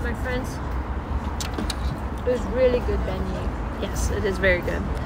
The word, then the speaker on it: beignet: I'm gonna get some beignets. I'm gonna get butchered for saying that wrong.